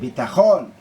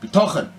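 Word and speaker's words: ביטחון: The emphasis on the second half of the word, bitachon. But I put the emphasis, milael, bitochen.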